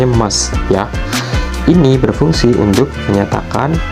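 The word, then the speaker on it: ます: adalah bentuk emas tulisannya bentuk masjid tapi kita bacanya emas ya ini berfungsi untuk menyatakan kesopanan Halo Mas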